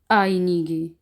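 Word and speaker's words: einige: और जब ये मीठे में होगा तो इसको हम पढ़ेंगे आईनीगे। ये मीठे में है तो इसकी आवाज़ गाफ की निकलेगी, आईनीगे यानी कि चंद एक, अ फ्यू, चंद एक।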